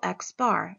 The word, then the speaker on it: x-bar: So for a sample mean, we're going to use the symbol X bar, and that's just how it's pronounced. It's a lowercase x with a bar over it.